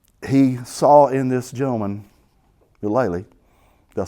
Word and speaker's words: Mulally: But he saw in this gentleman, Mulally. Did I say it right? Mulally. Okay. Thank you, Bennett. A pronunciation expert.